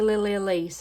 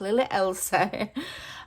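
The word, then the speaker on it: Lily Elsie: Sometimes I say Lily Elise. I pronounce it wrong. It's Lily Elsa.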